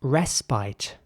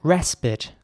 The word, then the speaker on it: respite: And in British English, it would be pronounced respite. So the I is once again pronounced like an I this time, not like an E.